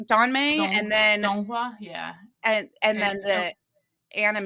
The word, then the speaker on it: Donghua: Donmei, and then Donghua, yeah. And then the anime is the Donghua. Yeah, so it's like original is the Danmei, which is the novel, and then there is a Donghua, which is the animation adaptation, and then there's